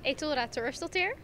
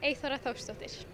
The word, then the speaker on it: Eythora Thorsdottir: So in Dutch, it is Eythora Thorsdottir. And in Icelandic, it's Eythora Thorsdottir.